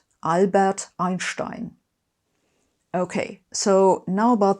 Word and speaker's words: Albert: Don't worry about the R in Albert. Just make that an R. Everyone does it and it'll sound just fine. Albert Einstein.